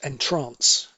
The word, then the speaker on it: entrance: And indeed, 7 down we said was entrance for arrival, but it can also be pronounced entrance, as in to put somebody in a trance or hypnotize somebody, and that appears often as well.